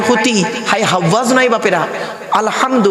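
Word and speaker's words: الحمد: হায় হাওয়াজ নয় বাপেরা আলহামদু গলার ভেতর থেকে হয় এটা উচ্চারণ হবে আলহামদু মানে হচ্ছে সমস্ত প্রশংসা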